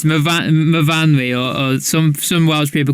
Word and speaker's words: Myfanwy: Is that how you say it? It's MYFAN. There's a W. How do we say that then? Myfanwy. Oh, Myfanwy. Of course, your S's become your V's, don't they? Yes.